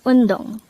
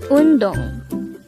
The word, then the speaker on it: 운동: Undong. Undong. This is pronounced as a two-syllable word. The first syllable is un, the second syllable is dong. Pronounce it with me. Undong.